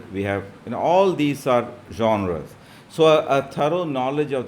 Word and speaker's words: genre: different literary genres uh this genre is a french word and that's why it's pronounced like that and it means a